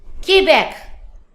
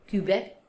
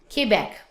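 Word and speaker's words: Québec: So Quebec, but in French we pronounce Quebec. Quebec. Quebec. Let's not say Quebec. We pronounce Quebec.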